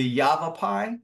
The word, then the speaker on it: Yavapai: also be uh visiting the yape correct my pronunciation On's geology Museum yav rocks say again the Yavapai yav it's one of the the peoples that